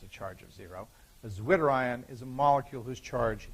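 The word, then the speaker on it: zwitterion: I'll bring it up here is the term zerion zwi t t e r i o n you can bet if I spell it for you that it spelling must be important okay zwitter iion is a molecule is a molecule whose charge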